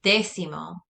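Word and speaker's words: décimo: might be related and also notice that there's an accent on this e that's where you put your emphasis and that means tenth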